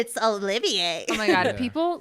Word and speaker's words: Olivier: I pronounced it like Oliver. Got like 3 million views because Sure. people commented on it. It's Olivier.